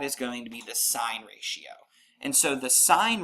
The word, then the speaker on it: sine: It's pronounced sine, and abbreviation is SIN.